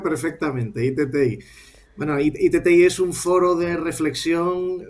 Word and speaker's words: iTTi: No, no lo has lo has pronunciado perfectamente. ITTI. Bueno, ITTI es un foro de reflexión sobre precisamente el